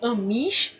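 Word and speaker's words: Amies: de Stuart, né, ou AMIS ou AMIS, né, depende um pouquinho de como você vai fazer a pronúncia, tá?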